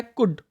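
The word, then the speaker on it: could: यहाँ पे भी बच्चों ये कुल्ड नहीं होता, ये होता है कुड। क्या होता है, कुड। तो यहाँ पे एल जो है वो साइलेंट है, ये जो एल है वो क्या है, साइलेंट।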